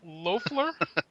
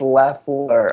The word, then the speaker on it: Loeffler: there we go, and the spinning circle that is known as Loeffler? It's Leffler. Oh man, Leffler.